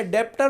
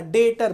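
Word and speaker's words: debtor: आप बोलोगे सर डेप्टर लिखा है। सर यहां पर तो डेप्टर लिखा है बेटा। यह बी साइलेंट है।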